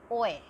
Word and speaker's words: hoy: Then HOY, OA. This is called OA. OA. OA means H is silent in Spanish.